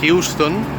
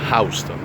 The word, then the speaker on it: Houston: Nosotros los neoyorquinos no lo pronunciamos Houston.